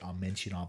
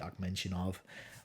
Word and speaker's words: Ahmetzyanov: I think his name's pronounced, I've been in the past pronouncing it Ahmetzyanov. I think it's actually Ahmetzyanov, like with a K noise.